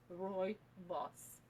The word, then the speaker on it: Rooibos: One of them is Rooibos. It's called caramel Rooibos because it's flavored with caramel. We call it otherwise red tea. It's pronounced like Roy and his boss. Roy boss.